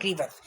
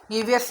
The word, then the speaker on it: grievous: हैं, इसको कहते हैं ग्रीवस, ठीक है। ग्रीवियस नहीं बोलना मैं आपको, इसलिए मैंने उसमें वर्ड को स्पेशली आपको दोबारा से प्रोनाउंस किया था।